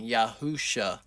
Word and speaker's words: Yahushua: some First of all, you can't really shorten Yahushua.